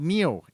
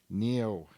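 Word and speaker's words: NIU: two because he's talking about a company called Neo n-i-u which in Chinese Mandarin means cow so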